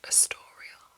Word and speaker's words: Astorial: nose, so I did change it so that it's pronounced Astorial, and that was where I got her name from.